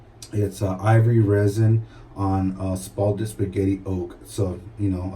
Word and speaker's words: spalted: I said splatted wood by accident, but it's spalted wood.